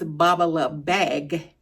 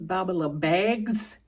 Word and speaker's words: Babalabag: of the way first is the correct uh pronunciation or the correct way you say the name of the company. The company is Bubalou Bag. I think I may have said in previous videos Bubalou Bags with a s, but it's Bubalou Bag and